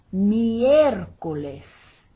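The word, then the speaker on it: miércoles: not in spanish lunes see the accent over the e for the stress there miercoles and that j in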